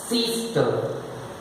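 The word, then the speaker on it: sister: रहा हूं, doctor, सिस्टर, सिस्टर, सिस्टर, सिस्टर, गलत हो गया, रा तो साइलेंट है, बता दिया, ई है उसके में। सिस्टर में 2 वावेल, आई है और ई है, यहां पे आई का साउंड ई है, सा, ई, सा, टा, अ, सिस्टर, सिस्टर, डॉक्टर, मदर,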